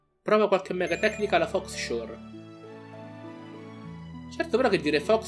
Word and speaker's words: Fauxshore: Da quello che ho letto dovrebbe chiamarsi Foshore, dato che la X non si legge in americano quando termina. O meglio, la parola faux si legge fo, nel senso tipo falso.